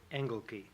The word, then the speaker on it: Engelke: That's an authentic pronunciation. He pronounces it Engelke.